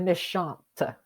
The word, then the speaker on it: méchante: And then we have méchante. Again, for the feminine adjective, we pronounce the T at the end.